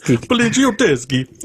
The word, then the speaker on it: Poliziotteschi: Poliziotteschi. Poliziotteschi. I didn't want to try to pronounce that. Poliziotteschi. Is that how you actually say it? Because I wouldn't. Hold on. Poliziotteschi. Poliziotteschi. There you go.